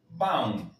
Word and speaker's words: vão: Acá tenemos la tilde. Sabemos que se va a pronunciar baum.